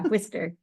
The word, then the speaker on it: Worcester: Nice pronunciation on that. Yeah, Worcester.